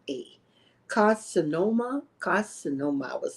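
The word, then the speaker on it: carcinoma: was called clear cell Reno carinoma now I'mma spell that for you c a r c i n o m a carinoma carinoma i was say and it had um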